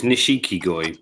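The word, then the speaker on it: nishikigoi: Is it pronounced goi in Japan, not koi? Is nishiki goi, brocaded carp. Goi is carp, but we just call them koi because that's what we've always called them.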